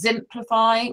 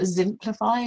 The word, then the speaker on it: Zimplify: So I'll just say, so one is Zimplify, which is spelt with a Z, like simplify, but Zimplify, Zyplify.